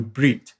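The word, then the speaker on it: berith: corresponds to the Hebrew breed and that's spelled if you were to transliterate it b-e-r-i-t-h but it's pronounced breed and it means Covenant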